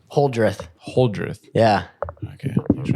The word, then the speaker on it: Holdrieth: Holdrieth.